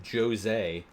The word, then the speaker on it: Jose: missed the introduction of Joe's a seems pretty rough and yes I am pronouncing it correctly it is in fact Joe's a here's that funky music